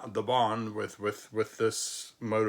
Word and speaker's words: Bahn: silent in the word Bon it serves only one purpose and that is to elongate the vowel a if you've ever spent